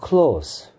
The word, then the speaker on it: close: 자, 근데 스펠링 똑같이 이렇게 쓰고 얘 발음을 스 발음이 아니고 즈 발음을 하게 되면 즈 close라고 읽으면 얘는 동사가 돼 버리고요. 동사로서의 뜻은 close, 닫다죠, 닫다. 그러니까 친한 친구는 close friend가 아니고 close friend죠. S가 가지고 있는 두 가지 소리, s, z 중에서 s라고 발음하면 형용사 부사가 되고요. 그다음에 z라고 발음하면 동사 닫다가 되고요.